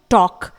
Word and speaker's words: talk: इसके बाद है टॉक, TALK, टॉक, यहां पर भी ऑब्वियसली K से पहले L आया हुआ है तो L को प्रोनाउंस नहीं किया जाएगा, इट इज टॉक।